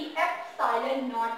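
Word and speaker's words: epsilon nought: इसे आप e नहीं बोलोगे, मिसप्रोनाउंस नहीं करना, इसकी प्रोनाउंसिएशन करेक्टली एप्सिलॉन नॉट है।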